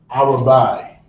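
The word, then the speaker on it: אַרְבַּע: and in the Hebrew number four hour bye I will buy is how you say four in the Hebrew and the Creole that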